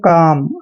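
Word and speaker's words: calm: से हम इसको पढ़ेंगे काम आपने कालम नहीं पढ़ना है काम पढ़ना है एन को न पढ़ते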